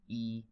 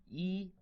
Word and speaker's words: 一: it's the easiest so the pronunciation is very close to the first half part of English word easy remember one Chinese character